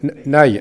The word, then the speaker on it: Nay: né dans la manche ça s'écrit anna y aussi dans vous êtes pardonner c'est juste en dessous de la loire les y se prononcent ça nous évite de